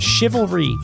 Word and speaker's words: chivalry: she can't say it chivalry chivalry chivalry c-h-i hang on say it's lower I'll spell it and then c c h i sh V the shiv shiv a l chivalry chivalry what's the definition